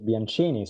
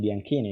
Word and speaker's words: Bianchini: pronouncing my surname correctly, because I very often write it with a K, because the correct pronunciation for the English-speaking people is Bianchini. So thank you very much for saying Bianchini instead.